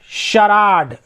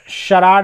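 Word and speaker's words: charade: शराड, शराड मतलब होता है नाटक या शब्द पहेली, वर्ग पहेली, जैसे बच्चे लोग खेलते हैं ना डम शराड, तो उसी तरह का है।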